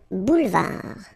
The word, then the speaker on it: boulevard: Final D not pronounced. Un boulevard.